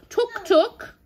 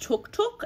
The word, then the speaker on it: Tuk Tuk: Tuk Tuk. It's actually pronounced Tuk Tuk, and I said Tuk Tuk in the original video, and now my children won't stop correcting me.